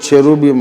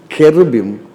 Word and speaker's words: cherubim: ఇంగ్లీష్లో CHE ఉన్నందుకు ఇంగ్లీషే చదువుకున్న వాళ్ళు చెరూబిమ్ అంటారు, అది తప్పు. Please learn this. If you learn Hebrew and read the Bible in Hebrew language, you have to pronounce it as cherubim నాట్ చెరుబిమ్.